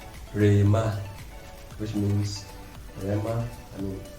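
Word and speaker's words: ῥῆμα: Now it is pronounced Rema, which means Rema, I mean the instant word.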